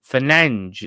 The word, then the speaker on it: Fernandes: Uh, so with Fernandez or Fernange in Portuguese, they they say pronounce it Fernang.